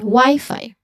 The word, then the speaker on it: Wi-Fi: So both y and fi should be pronounced with a long i sound or a dip thong i. This one as you can see there's an i there. There's also an i in the beginning. That's a dip thong. So it should have the same dip thong sound.